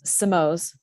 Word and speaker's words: Simões: Simo. I always say Simo rhymes with toes.